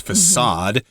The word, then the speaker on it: facade: of the building and usually the letter c there has a little kind of a backward C underneath it uh to indicate that the letter c is pronounced as an S facade and this is the